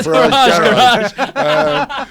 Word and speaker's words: Farage: It's like, what rhymes with Farage? I need some. Oh, no. So it just rolls off the tongue. Nigel Farage garage.